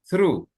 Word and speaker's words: through: Skip me skip me ignore sleep and put strong and through gnya enggak dibaca true through true heh then exhaustion exhaust exhaust exhaust bacanya exhaust sa aja exhaustion exhaustion just to finish our task.